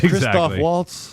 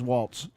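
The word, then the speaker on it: Christoph Waltz: a name for you you can pronounce Christof Waltz No No that's V V adol Jones and I don't really like the don't hate Raven ch's president it's not his Walts I'm going to read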